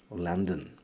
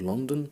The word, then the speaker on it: Landon: Members of this cadre of operators, aside from Halliwell, included Kurt Landon. Not London, but Landon. Kurt Landon and James Guil Martin. Kurt Landon and James Guil Martin.